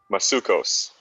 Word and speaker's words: Masuecos: i'm pronouncing your last name correctly so you pronounce it for me masukos okay good i am saying it correctly i